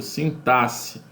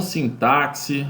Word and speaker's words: sintaxe: se chama sintaxe ok repita comigo sintaxe e não sim táxi ou cintas e como já ouvi por aí tá sintaxe a pronúncia correta certo e dentro da